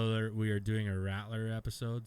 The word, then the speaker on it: Radler: Next episode, spoiler alert, we are doing a Rattler episode. So Radler. I call it Rattler. Well, it's spelt with a fucking D.